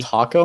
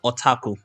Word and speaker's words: otaku: once said this: "The otaku mind is very simple, but that simplicity can be good." And to me, the simplicity is basically taco mind. No, so otaku, not taco.